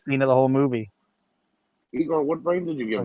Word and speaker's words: Igor: It's pronounced Igor. Igor.